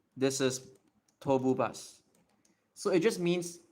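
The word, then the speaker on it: 東武: So it's like to. You don't say mu in this case. It gets upgraded to the sound becomes harder. It's not M anymore. It becomes a B. So Tobu.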